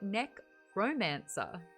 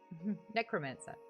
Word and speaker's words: necromancer: it's buoyant thanks kenzie says i keep hearing neck romancer i mean some people are into that yeah that's more the vampires they romance that neck necromancer necromancer yeah romance that's funny um act three